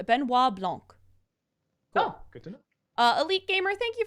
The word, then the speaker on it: Benoit Blanc: my highlighted comments that's why I cheered it's pronounced Benoit Blanc uh Elite gamer thank you for that three-month